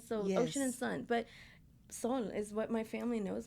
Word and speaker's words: Sol: When you just said, and I just learned this now, that the last, was it Saul? Tell me how to say it. Sol.